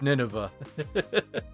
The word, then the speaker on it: Nineveh: I'm like oh oh it's not navine at all it's Nineveh so like oh I got like the rough consonants there but they're in the wrong order and like I'm putting emphasis on the wrong the wrong vowels and it's it's it's